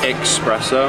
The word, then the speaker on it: espresso: It's pronounced espresso.